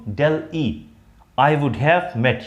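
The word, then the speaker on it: Delhi: जैसे कुछ लोग दिल्ही इसको बोल, तो दिल्ही नहीं होता है, डेल ई होता है।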